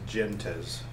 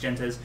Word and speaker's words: Gentes: And so the word Gentes in Latin is pronounced Gentes. I know that Uli, the creator, is German, and he pronounces it Gentes, so I guess you can pronounce it however you like, as long as it's one of those couple, right?